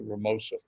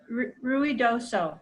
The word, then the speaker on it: Ruidoso: or I got a chance to go to Ramosa. Am I pronouncing that right, Ramosa? You talking to me? Huh? Ruidoso? Who are you talking to? You. Me? Yeah, It's Ruidoso.